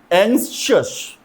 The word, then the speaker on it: anxious: Anxious, anxious, अब इसका pronunciation ध्यान से सुनिएगा.